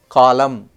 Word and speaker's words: column: debt B is silent column n is silent receipt p is silent